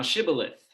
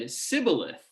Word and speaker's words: shibboleth: unto him each individual say now shibboleth and he said sybileth for he could not frame to pronounce it right then they took him